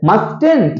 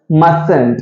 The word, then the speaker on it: mustn't: mustn't அப்படின்னு நம்ம வாசிக்க கூடாது. the correct pronunciation is mustn't.